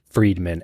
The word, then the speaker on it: Friedman: Friedman is spelled like fried man.